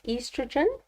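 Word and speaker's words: oestrogen: would be estrogen so even though it's spelled with an O we pronounce it as estrogen and then the describe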